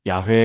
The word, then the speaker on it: 야훼: 오늘날 대부분의 학자들은 원래 발음이 야회에 가까웠을 것이라고 추정합니다.